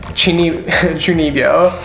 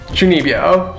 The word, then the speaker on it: Chunibyo: Chunibyo. Fuck, I said it wrong. Chunibyo.